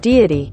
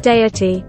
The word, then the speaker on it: Deity: yelling at me that i'm pronouncing dandy wrong i want to show you something deity deity deity so there I'm not wrong I'm just Canadian and